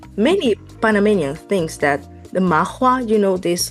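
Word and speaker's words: 麻花: Mafa. Yes, we call it mafa. Yeah, because of the Cantonese pronunciation.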